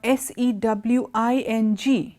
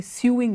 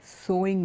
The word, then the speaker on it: sewing: machine it is a sewing machine the pronunciation is very similar to the word which I told you before s o w so it's not su